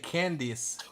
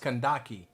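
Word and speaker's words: Kandake: So what you said, Candice, is pronounced Kandaki.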